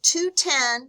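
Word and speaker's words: 2/10: with when it's available the term 210 pronounced 2 10 indicates the customer will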